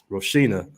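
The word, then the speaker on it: Rocinha: Now, this German dude just pulled up to one of the biggest favelas in Rio, Roshina, is how you pronounce it.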